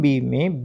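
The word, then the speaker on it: bomb: जब भी किसी स्पेलिंग के अंदर एम बी आता है तो वहां पर आपने बी का उच्चारण नहीं करना है। बी को नहीं बोलना है। तो बी ओ एम बी लिखा तो जाएगा लेकिन बोलने में क्या बोलोगे इसको? बम मैं तक ही आपकी साउंड रहेगी।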